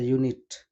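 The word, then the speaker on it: unit: उसी प्रकार से यहाँ ए यूनिट, अ यूनिट, तो यहाँ पर ए यूनिट भी क्या है, यू, यहाँ पर यू तो वोवेल लेटर में आता है लेकिन उसका जो साउंड है वो वोवेल नहीं है, इसलिए हम उससे पहले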